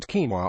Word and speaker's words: quinoa: By now you've probably tasted quinoa, and probably even know how to pronounce it quinoa.